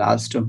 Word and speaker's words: Alstom: It's important to get this down, particularly in your case, because although Alstom, is that the way it's pronounced? Yes, it's called Alstom, yes. Alstom, it's a big company.